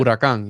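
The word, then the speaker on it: Huracán: Huaraca? How do you say it? Huracan, yeah.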